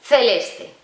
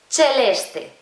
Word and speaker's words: celeste: Tú, por ejemplo, esta palabra la leerías celeste. En italiano no, en italiano es celeste.